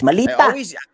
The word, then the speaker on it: maleta: because we have that Bisaya, because we're Bisaya, we pronounce ESI, so it's malita.